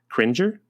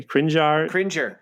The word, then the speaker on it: Cringer: identity is Adam's pet tiger cringer is that right yes it is the nearly identical princess okay crinjar cringer don't don't you dare mispronounce this name battle Kate a yellow